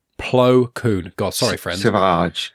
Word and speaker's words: Plo Koon: It's Clo. Oh my god! Now I can't say his name. Clo Poon. Poon. That's it. Like the goalkeeper. No, it's Plo Koon. I just said it wrong myself. PLO space KOON. Plo Koon.